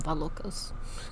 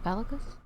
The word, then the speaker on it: Valakos: Oh, that I was calling him Valokos. No. Wait. Valakos? I pronounced it right.